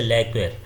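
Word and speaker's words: lacquer: और कुछ में ये जो है साइलेंट भी होता है, जैसे लैक्वेर, लैक्वेर में ये क्यू जो होता है वो क्या होता है, साइलेंट होता है।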